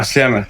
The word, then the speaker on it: Sljeme: How do you pronounce it again? Yeah, Sljeme, definitely.